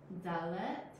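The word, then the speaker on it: דָּלֶת: This next one is Dalet.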